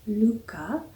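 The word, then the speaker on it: lykke: the back it says it's pronounced lucca and it means happiness so i'm excited to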